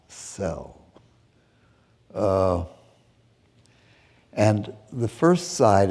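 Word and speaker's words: Szell: conducted by one George cell s z e l pronounced cell uh and the first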